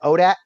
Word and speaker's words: ODAAT: in the community uh we just pronounce it odat so a lot of times you'll hear me refer to odat nation okay um where